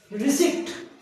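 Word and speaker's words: receipt: लेकिन यहाँ सिम्टम बोलना है, यहाँ पे पी साइलेंट रहेगा। रिसिप्ट, अधिकतर एक ही स्पेलिंग होती है, रिसिप्ट बोलते हैं, प बोलते हैं।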